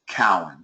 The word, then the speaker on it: Cowan: wrong I'm so sorry it's Cowan yes that's we got to remember that n so okay pronounce my